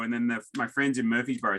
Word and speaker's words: Murfreesboro: And so my Murfreesboro, I can't say that to save my life. Murfreesboro. See, and they say it wrong because it's spelled differently.